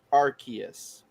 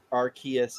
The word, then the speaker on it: Arceus: In the movie, it's pronounced Arceus because there's a skill called the RKS system, which is adapted from the Pokemon or something like that. So Arceus is how they pronounce it in the movie.